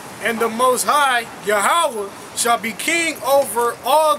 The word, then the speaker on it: Yahawah: You can't pronounce Yahweh out of those 4 symbols. Out of the mark, the little square, the line, then the other ha ending. Yeah. His name is supposed to mean something. You know? You can't get Yahweh out of that. Yahweh, that's like a fucking 3-symbol word, man. That's not even a word in the Hebrew.